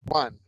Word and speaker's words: Ouch: your last name CLE my last name is O but it's spelled like yeah yeah CLE um was